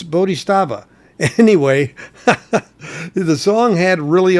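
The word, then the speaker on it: Bodhisattva: song the first song as I always mispronounce is bodh stea or stava or sta or sta it's bodh stava anyway the song had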